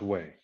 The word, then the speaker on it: Wei: W-E-I, because it's pronounced Wei.